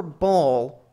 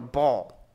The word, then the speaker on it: Baal: story about one particular ball and if i was going to pronounce it right i would call him but that medial ayin which still exists in modern arabic is a really unpleasant sound and when i was